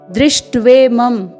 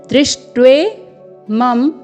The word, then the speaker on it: दृष्ट्वेमं: यहाँ पर दृष्ट्वेमं में ध्यान से देखेंगे, द में री का स्वर है, री। आपको भ्रमित नहीं होना है। यहाँ पर द में री का स्वर है, न कि र का। तो इसका उच्चारण होगा द्री, द्री।